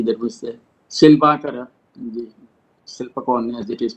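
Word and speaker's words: Silpakorn: Similarly, there was a Silpakara, the Silpakon as it is pronounced, Silpakara University for Arts and Crafts, and Kaser Sat, the Krishna Shastra University for Agriculture, like this.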